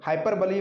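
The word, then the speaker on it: hyperbole: हाइपरबली, हाइपरबली मतलब होता है अतिशयोक्ति। प्रोनाउंसिएशन पर विशेष ध्यान रखिएगा, 99% लोग इसको हाइपरबोल पढ़ते हैं, जो कि सरासर गलत है। इसका प्रोनाउंसिएशन होता है हाइपरबली।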